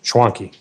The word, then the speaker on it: Schwanke: We normally don't go live on a Friday, but we are here with LS Goat at, am I pronouncing it right? Schwanki. Schwanki.